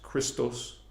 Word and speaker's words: Christos: The Guardians call it Christos. Out of respect, we say Christ too. Christ in our language, in the Anahazi Lyran language, the Guardian language, it is pronounced Christos.